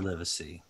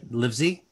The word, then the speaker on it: Livesey: who's um wendy hiller and literacy roger roger livesey very good did i pronounce it right uh lizzie it's lizzie but it works it works yeah